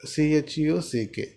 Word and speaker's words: check out: Arkanarayana is saying that check out, CHUCK, check out, and felt rather disturbed.